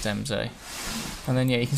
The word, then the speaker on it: Embsay: It's got to be pronounced Embsay.